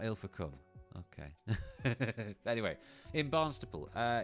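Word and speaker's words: Ilfracombe: I pronounced her this so it's not ill for it's ill for come okay okay fair enough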